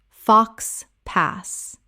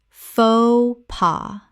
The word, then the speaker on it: faux pas: tor-ti-ya tortilla Word 204 faux pas Common mispronunciation fox pass Correct pronunciation fo pa Two syllables, both the X and the S are completely silent in this French phrase.